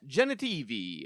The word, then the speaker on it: Genitivi: He is here to find brother Ferdinan Genitivi which rhymes with ferachini an expert of the urn of sacred ashes.